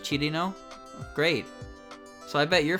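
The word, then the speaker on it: Cirno: lot of people say cheer no as well but it's like cheated now right cheating like chili chirino we uh english tends to use two syllables for her but it's three syllables although i cannot i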